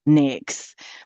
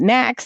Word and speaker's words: NAICS: And I know people pronounce that several different ways. When I came up as a procurement, you know, staff in in the Air Force, it was NAX, but some people call it Knack, you know, whatever.